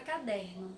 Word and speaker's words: caderno: É a palavra caderno. Chamem aí a palavra caderno. Caderno. Eu me alonguei mais na sílaba der. Então, der é a minha sílaba tônica.